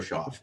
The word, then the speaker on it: Schaff: This is, they bring him in to push Shug or Shao, however you say it. Tyler Schaff, because it's spelled like cough. I mispronounce names on purpose anyway, so let's go Schaff. But anyway, I'm just saying,